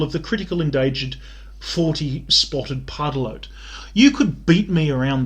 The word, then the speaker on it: pardalote: the critical endangered 40-spotted pardalote. You could beat me around the head and neck with a 40-spotted pardalote, and I wouldn't recognise it. Like, I don't... Never heard of it. Pardalote, not pardadote, How do you spell it?